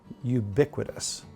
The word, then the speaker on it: ubiquitous: the state it was ubiquitous that is our four syllable word for the day wow it's you know